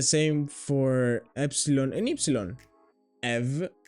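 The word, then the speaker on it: αι: This alpha iota isn't pronounced alpha iota or I. It's pronounced e. It's exactly like epsilon.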